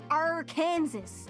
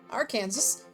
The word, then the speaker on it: Arkansas: It's because one comes from a French pronunciation while the other comes from the native pronunciation of the word Kansas. Arkansas is French.